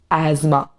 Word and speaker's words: asthma: The correct pronunciation is asthma.